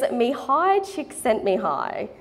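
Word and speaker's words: Mihály Csíkszentmihályi: would be rude not to his name is Mihai csíkszentmihályi and he's considered the founder of the flow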